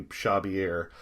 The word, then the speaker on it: Xavier: clares Herz case um I've spoken to some individuals in this part of the world who say shabier is probably the closest that we can get to actually pronouncing his name correctly um so let's just